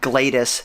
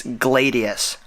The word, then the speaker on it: Gladius: name of the drone it's not GLaDOS it's Gladius my bad and just a